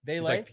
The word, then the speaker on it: Vele: only had one spot, Vele is or Vele, I think is how you pronounce it actually for the Saints. It's a couple $100 less. Vele. He's like Pele.